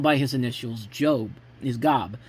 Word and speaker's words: Gob: his initials job is Gob which is pronounced in the series like the big biblical figure Job.